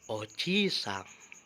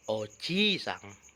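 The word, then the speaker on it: おじいさん: Perlu minasang perhatikan, bunyi vokal panjang dan pendek membedakan makna atau arti. Contohnya adalah oji-sang yang artinya kakek dan oji-sang yang artinya paman. Oji-sang kakek, oji-sang paman.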